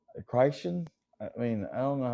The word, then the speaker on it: Crichton: know when you know I can't is it kryon I CH h r i t o n Christan I mean I don't know how to say that yeah it's kryon it's pronounced kryon kryon but I mean but like like he